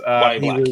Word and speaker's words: Yahya: Uh Chris, uh I believe it's pronounced Wyatt Brown Yes. Wyatt Black, correct? Wyatt Black, yeah.